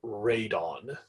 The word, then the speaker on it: radon: fishing or something um spelled the same way but the uh hazardous air pollutant is called raidon um and the College Board